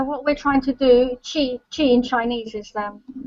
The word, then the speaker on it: Qi: b u c k Qi is is chi uh you want to describe it Ellie just to give a better basically vital life force energy so what we're trying to do chi chi in Chinese is